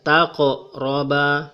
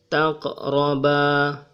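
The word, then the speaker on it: تَقْرَبَا: Ini adalah huruf qof, jadi suara bergetar di sini, tetapi getarannya kecil. Taqroba. Jangan dibaca sebagai taqroba. Ini juga tidak boleh dibaca sebagai taqroba. Cara yang benar adalah taqroba. Getarannya kecil.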